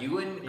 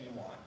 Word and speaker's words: Ewan: yeah you called him I've never heard anybody pronounce his name human you and I only heard Ewan or Ewan ewon I never said you want because that sounds like what we want E1